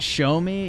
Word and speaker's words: Xiaomi: I've seen Android wise actually it's pronounced show me yeah show me them